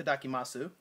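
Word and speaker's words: いただきます: It's itadakimasu, which, you know, there again, a lot of Japanese people don't pronounce the vowels at the end of things that end with S and a vowel, but, you know, if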